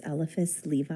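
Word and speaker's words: Eliphas Levi: Um, his name is Elephice Levi, I think that's how you say it.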